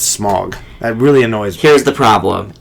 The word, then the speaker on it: Smaug: know they said in the movie but it's smog that really here's the problem it's not both